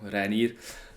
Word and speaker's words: Reinier: That's how you pronounce it as well, Reinier.